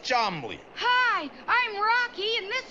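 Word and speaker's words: Cholmondeley: And this is my Uncle Chamandiali, pronounced Chomley.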